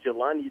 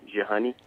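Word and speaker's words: Jehoney: of your honey but I like that name Jelani that my uh tried to pronounce it was like Wow wait I might actually call it Jelani because he throws them off but it's pronounced uh j-e-h-o-n-e-y jehani okay and yeah um it's just been a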